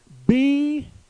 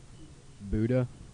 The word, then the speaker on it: Buda: Buddha. Wrong! That's what everybody says, though. It's Buda. You instead of ooh.